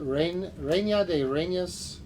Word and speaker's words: Reina de Reinas: Roll your R's.